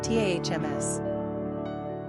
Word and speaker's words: Thomas: Pronunciation, TAHMS. Simple meaning, the twin.